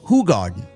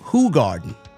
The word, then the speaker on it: Hoegaarden: You know, it's actually pronounced Hoegaarden. It's It's spelled Hoegaarden, but it's pronounced Hoegaarden.